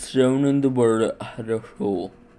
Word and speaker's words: Хорошо: This is shown in the word Хорошо. The first О is pronounced as a ə, the second ɐ, and the third oh.